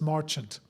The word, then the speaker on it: Marchant: I was told by a family member about eight years ago that it's merchant. So I'm going to keep saying March and everybody else is going to correct me, but that's okay. It may be Marant at this point, but I I think originally he dropped the French pronunciation to sound more American.